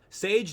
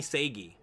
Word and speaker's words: Sage: words from Sage himself Sage don't call me sagy Sage don't call me sagey Sage don't even worry